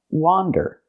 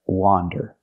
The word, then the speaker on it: wander: this word and the word is pronounced wander again it has the open a sound like hot and stop W wander not Wonder but wander if I use the